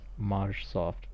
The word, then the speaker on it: Majoft: Um, oh yeah, guy who can't pronounce Majoft. For the record, that is how it was always intended to be pronounced.